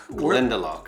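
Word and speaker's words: Glendalough: it's called Glendo glendel glendel okay the accent is on the second syllable all right but it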